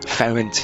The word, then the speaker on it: Ferenc: We're going to go with orange beds, and we're going to take the prsent list. Again, prsent is the correct pronunciation I've looked up in Hungarian, though he was known as Franz.